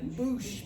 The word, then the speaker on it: Bush: I always say Boosh because it's spelled Boosh, but it's Bush Street.